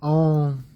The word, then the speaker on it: Om: The chanting of Om, it's actually 3 syllables, really 4 if you could count the nasalization at the end.